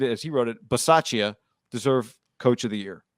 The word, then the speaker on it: Bisaccia: You got it right. That's how you say it. I thought it was B. Is it Ba? B? Bisaccia? Bisaccia? I'm just nitpicking. Yeah. It's definitely the Saccia with the B.